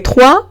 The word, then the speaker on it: trois: Trois es el número 3 y se lee trois porque tengo una O y una I que se va a leer wa y la S final al ser consonante final no se pronuncia.